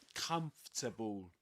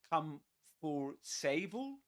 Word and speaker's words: comfortable: Okay, let's move on to comfortable. Look at this word. Um, would you say come for sable? Comfortable. Comfortable. Comfortable.